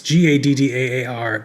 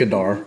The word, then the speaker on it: Gaddaar: It's Gaddaar. Gaddaar. I don't know how to pronounce it. Yes, it's Gaddaar.